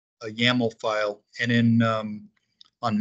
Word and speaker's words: YAML: we've seen these before most people pronounce that as yaml a yaml file and in um